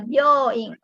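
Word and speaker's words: 病院: Jadi kalau dibaca panjang kayak byo itu o-nya harus panjang, ya dibaca harus panjang. Kalau pendek nanti beda lagi artinya ya, ada byoing, ada byoing gitu ya, beda.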